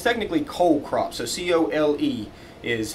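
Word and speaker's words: cole crops: it's you know cool weather but it's technically cold crops so c-o-l-e is how it's pronounced this refers to the stem of the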